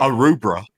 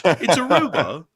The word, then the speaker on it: Aruba: Aruba. I said that so wrong. Like, I butchered that. It's Aruba. It's Aruba, not Arubra. That's a totally different place that doesn't exist.